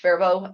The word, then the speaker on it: Faribault: for a few years Faribault Minnesota yes that is pronounced fervo uh it is they